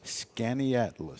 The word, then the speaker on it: Skaneateles: Skaneateles. Yeah. I never would have gotten that. In a sounded like it's spelled, I'd have never gotten that.